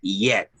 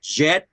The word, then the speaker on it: yet: Notice that the pronunciation is yet, okay? Yeah. Yet. No digan con J porque sería jet, sería como avión, jet. Notice the difference, jet and yet.